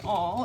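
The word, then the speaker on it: awl: a book making tool here's my all it's spelled whoops that's not my all there we go there's my all let spelled a WL and you use this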